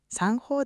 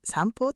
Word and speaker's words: 三方: 方なのに散歩ではポーと読むんだね。前の運とつながって音が変わります。